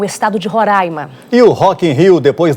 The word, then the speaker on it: Roraima: leque ninguém confunde lá o que gera confusão é como se pronuncia o nome do estado eu já aprendi há muito tempo que é roraima até porque se eu